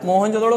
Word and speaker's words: मोहनजोदड़ो: जो कि दूसरों ठीक है क्या होता है मोहनजोदड़ों का सही उच्चारण क्या होता है मूव ऑन जोदड़ो अब